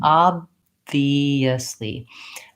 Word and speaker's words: obviously: So my V is a continuing sound with my lower lip and upper teeth touching. V, second syllable, is an E sound for the letter I, and a schwa, an sound, V, for the letter O. So obvious, and then lastly, the ly says Lee.